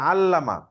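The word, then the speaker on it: عَلَّمَ: একটা চেঞ্জ হইতেছে ঠিক আছে খেয়াল করছেন তাহলে আল্লামা আল্লামা অর্থ কি আলিমা শিখছেন আইন লাম দিয়ে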